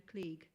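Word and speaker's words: Kleege: a writer called georgina klieg i think that's how you pronounce it k l double e g e she's an american academic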